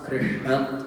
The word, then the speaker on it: Krishna: It's not Rama, but it's Rama, Krishna, Partha, right? So make sure that you're saying the whole thing.